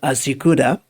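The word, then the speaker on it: ASYCUDA: This is particularly important because it's known as, I think you pronounce it Asikuda or Asikuda. Asikuda World is some automated system for customs data.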